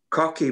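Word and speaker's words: Coch: notes, it's called the Cocky Bondu, which is, it's spelled C-O-C-H-Y, and it's pronounced cock.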